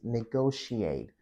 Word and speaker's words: negotiate: So the next word is negotiate. Negotiate. So this word has two different pronunciation. You can say negotiate or negotiate.